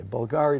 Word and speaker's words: Bulgari: save the children and Bulgari am I saying it right yes okay Bulgari to raise money and